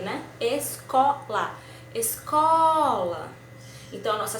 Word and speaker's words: escola: Escola. Já a escola foi a sílaba do meio, né? Escola.